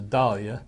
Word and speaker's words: dahlia: You pronounce it the English way, which is dahlia.